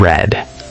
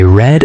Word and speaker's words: read: Drank and read. Perfect. Drink becomes drank and read is spelled the same, but we pronounce it like the color red. I read a book.